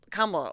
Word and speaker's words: Kamala: I guess that's why they have to mispronounce it. Yeah. Like because the actual name is. It's a great name. Kamala.